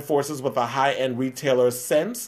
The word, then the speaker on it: SSENSE: He basically is joined forces with a high-end retailer, Sense, that is spelled SSENSE, and leather company Fleet Ilya to create a $6,400 pair of BDSM headphones.